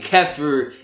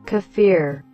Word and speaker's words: kefir: most you guys know I say kefir kefir but I found out that kefir is the right way to say it and it's something that